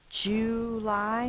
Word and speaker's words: July: It says J-oo. So I wrote it down as the double O like in boo or like moo.